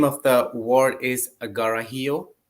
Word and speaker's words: Karhiio: of the word is agarahio it's written with k but it's pronounced with g do you know what